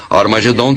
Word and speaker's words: Armageddon: e armageddon e realmente em algumas das antigas versões do novo testamento escritas em grego armageddon tem o som aspirado no início o que significa que era pronunciada com h originalmente era raro machê dom